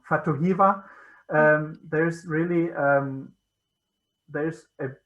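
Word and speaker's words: Fatu Hiva: in the island of fatihuba sorry i'm saying it wrong fatohiva there's really um there's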